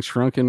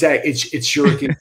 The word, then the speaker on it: Shuriken: Am I saying Shrunken when I should be saying Shuriken? Shuriken. It's Shuriken.